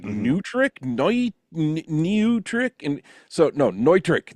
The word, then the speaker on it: Neutrik: but I always feel obligated to call it Zygu too because that's what everybody refers to it. And then if you go over to the UK, everybody calls it Zigu.